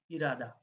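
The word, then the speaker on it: 일하다: উঠে যায় হয়ে যায় ইরাদা অর্থাৎ এর উচ্চারণ হবে ইরাদা দেখেন এই হাদা ভার্বের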